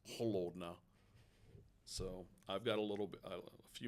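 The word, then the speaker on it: холодно: And I just learned it's not pronounced kolodna, it's holodna.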